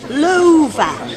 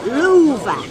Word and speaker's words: Louvre: Louvre. Eh? That's how you pronounce that. Louvre.